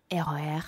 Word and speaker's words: RER: Can you pronounce that in French? RER.